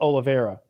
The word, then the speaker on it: Oliveira: did the same thing well cowboy oliveira it's pronounced oliveira and now because you just did this to